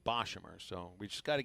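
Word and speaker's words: Boshamer: would bo uh boshimmer i think i've been pronouncing it incorrectly for a while bob i want to say beauchamer dave nathan the voice of rady of carolina baseball pronounced it boshimmer so we just got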